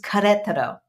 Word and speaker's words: Querétaro: It is Querétaro, Queretaro. In American, we'd say Querétaro, Querétaro, Queretaro.